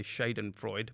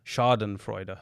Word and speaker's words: Schadenfreude: I'm glad I actually looked up how to pronounce it because I was going to say shade and Freud but and what is it a Chardon Freud okay yeah it's actually pronounced that way and